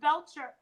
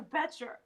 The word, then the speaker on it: Betcher: was in the supermarket, I heard her say Officer Belcher. His name is Officer Betcher. Yeah. I can't say his name right anymore. It's Yeah. Betcher. And I kept calling him Belcher the whole time, and I think it